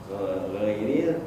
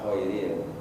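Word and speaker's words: غير: kita sering mendengar tu bacaan ghairil dibaca kohairil kan ghairil Bukan tapi koiril kan baik gitu kita tahu itu salah gitu nah Baiknya gimana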